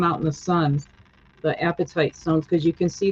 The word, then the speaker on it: apatite: And it's Apatite is how you spell it, which is sounds like the appetite, like I want to eat, but it's spelled differently.